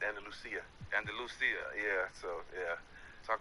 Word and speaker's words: Andalusia: And Andalusia, Alabama, that's how you say it? Andalusia. Are you from Spain? It's Andalusia.